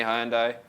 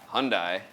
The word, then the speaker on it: Hyundai: Hyundai sh them great wilon County Wilson County hyai wow said it wrong again Wilson County Hyundai Hyundai Hyundai Hyundai this all right Hyundai yeah